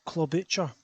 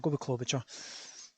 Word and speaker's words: Klobuchar: that's sitting here thinking lee how on earth are you pronouncing this name wrong club butcher i'm sure it's called picture club hey klobucha klobuchar so senator klobuchar also chaired